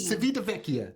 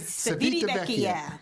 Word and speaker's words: Civitavecchia: We did have an experience while we were in Just say CV. Civitavecchia. That's how you say it. Civitavecchia.